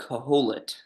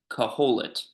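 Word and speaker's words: קהלת: So um in the Jewish Bible, in the Hebrew Bible, um this book is called Caholit. That's how you pronounce that. Caholit.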